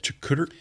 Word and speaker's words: charcuterie: Charcuterie. Trickery board?